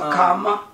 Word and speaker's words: Kamala: behalf of, I don't want to say her name wrong. Kamala Harris. Just remember Kamala.